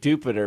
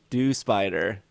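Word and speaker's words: Dewpider: like no you're dumb it's dew plus spider dew spider but for whatever reason jupiter is jupiter it's supposed to rhyme with rhyme with jupiter but they're they're it's a good argument it is dew plus spider right so not do spider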